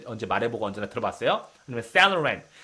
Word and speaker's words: Saint Laurent: 아니면 Saloran, Saloran.